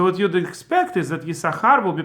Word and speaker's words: Issachar: But it's pronounced always as one, Issachar. But there were some traditions, especially in certain Hasidic communities, where they do read Issachar as Yisachar, or at least some of the times when